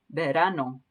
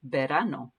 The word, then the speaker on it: verano: a b sound there verano vera verano and that r again is like a d it just kind of taps the root for your mouth it's not an er sound somewhere in between there all right let's try